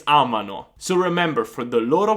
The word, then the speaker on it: amano: Usually students get the loro form wrong when they're pronouncing the verb. So instead of saying amano, they say amano. And that makes sense because you say, oh, amiamo, amate, amano. No, it's amano.